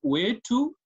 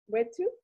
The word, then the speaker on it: wetu: No, don't take E as an English letter, take it as another letter. So instead of pronouncing it as E, just use the way it is, A. Wetu?